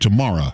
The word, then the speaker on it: Tamarra: I was telling Tamarra, which I mispronounced her name, that Tamarra, it's like tomorrow, except Tamarra, right?